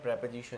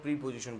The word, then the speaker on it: preposition: हम बात करते हैं प्रेपोजिशन की, तो प्रेपोजिशन का मतलब क्या होता है। इसे बहुत सारे लोग प्रीपोजिशन बोलते हैं, ठीक है, इट्स ओके, लेकिन सही प्रोनाउंसिएशन है प्रेपोजिशन।